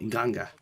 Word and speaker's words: Nganga: That's how you say it, Nganga.